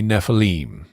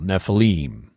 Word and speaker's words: Nephilim: pronouncing it would be Nephilim or Nephilim um Hebrew unlike English likes to put the accent on the last syllable on the ultimate so anytime you're looking